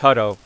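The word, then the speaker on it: Hutto: it's it's called it's it's pronounced huto so he had it right the first time it's huto so that's the tornado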